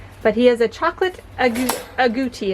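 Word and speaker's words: agouti: he has a chocolate a gucci as i think how you say it a-g-o-u-t-i his name is nestle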